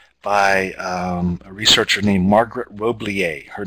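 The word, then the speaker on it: Roblyer: of this work by a researcher named Margaret Roblier. Her name is spelled R-O-B-L-Y-E-R. This article was first published in the ISTE scientific their journal of technology in schools. Margaret Roblier and John Marshall studied an online school, and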